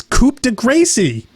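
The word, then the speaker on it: coup de grâce: had coup de Grasse which people pronounced vaguely French pronounced right it's coupe de grâce em1 and that word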